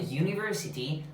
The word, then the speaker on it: university: Porque la pronunciación de university hace que esta U sea consonántica.